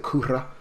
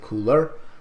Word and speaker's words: cooler: metal cooler steely hatred I do say cooler by the way I do not say Cunha I'm not Japanese Japanese typically will pronounce it Kouta I will say cooler so a little grudge